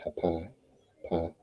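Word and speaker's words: Hapi: is a which is spelled h a p i hai pi um they believe he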